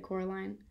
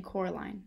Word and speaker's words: Coraline: they get things wrong they got your name wrong you know they kept saying coraline not caroline not caroline at all he poked picked